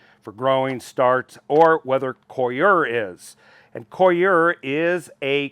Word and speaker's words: coir: And I retorted, no, you're being coyer than I am. You got it. It's Coir.